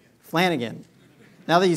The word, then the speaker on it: Flanagan: How do you pronounce the name? Flanagan.